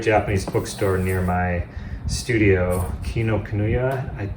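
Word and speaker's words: Kinokuniya: bookstore near my studio kino kanuya that's how you pronounce it and they sell really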